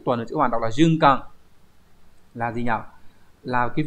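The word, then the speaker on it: 循環: Từ số 4 là tuần hoàn, hán tự là chữ tuần, chữ hoàn đọc là junkan, là gì nhỉ, là cái việc mà lặp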